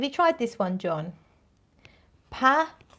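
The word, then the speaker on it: pas: tried this one john pah p-a-s encore as in um standing up for an encore and then nom which is the french for name um have you tried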